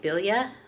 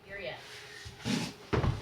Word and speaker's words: birria: But I'm making a bilya. That's not how you say it. Dad. Okay, birria.